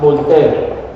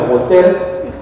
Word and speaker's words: Voltaire: Un señor que se llamaba Voltaire. Acuérdense que son franceses y en Francia la E final no suena. Voltaire.